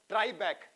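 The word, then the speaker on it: tribrach: ट्राई बैक, spelling देख लेना, ट्राई बैक पढ़ा जाता है उसको, बाकी क्या साइलेंट है क्या नहीं आप देख देना।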